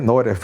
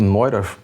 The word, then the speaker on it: Neurath: O Otto Neurath, eu acho que é Neurath que se pronuncia, né.